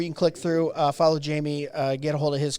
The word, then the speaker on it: Jamie: So it's not Jimmy, it's Jamie. Jamie.